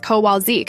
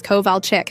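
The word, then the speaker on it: Kowalczyk: But god forbid you say Mrs. Kowalzik instead of Mrs. Kovalchick. She'll stop mid- lecture to correct you.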